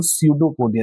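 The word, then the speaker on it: pseudopodia: अंग्रेजी में इसको सडोपोडिया। देख लीजिए नाम कितना कठिन है। पी से शुरू हो रहा है और उच्चारण होता है सडोपोडिया। पी एस ई यू डी ओ पी ओ डी आई ए सडोपोडिया देख लीजिए सडोपोडिया हिंदी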